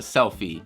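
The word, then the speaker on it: SELPHY: self I I think it's called the selfie it's spelled SEL PHY so the selfie CP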